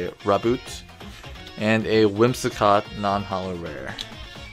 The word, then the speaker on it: Raboot: Alright, so we have Franklin, Lipbug, Rhyhorn, Clobopus, Goldeen, Palpad, Kingler, Rhydon, a Reverse Raboot, pretty sure that's how you say it, Raboot, and a Whimsicott non-holo rare.